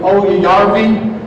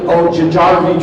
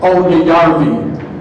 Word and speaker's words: Oyajarvi: Sometimes people will pronounce it Ojajarvi Trophy, but Mr. Chuck Marcy, years ago, World War II veteran, bomber pilot, and said, "Hey Simpson, that's Oyajarvi, a good Finnish name."